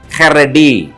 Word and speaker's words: חָרֵד: உச்சரிக்க வேண்டும் என்று சொன்னால் ஹேத் காமெட்ஸ் ரேஷ் செரே டாலத் ஹரேட் ஹரேட் என்று சொன்னால் ட்ரம்பில் நடுங்குதல்